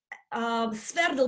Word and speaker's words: Sverdl: Now, Sverdl, we need to pronounce it together. It's shortened, yeah, two words in one.